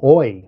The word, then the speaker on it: Oyez: And literally opened a dictionary and pointed to the first word she saw, which was um, oi, which is spelled o y e z.